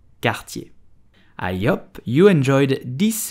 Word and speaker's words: Cartier: Cartier. Cartier. I hope you enjoyed this video about French pronunciation.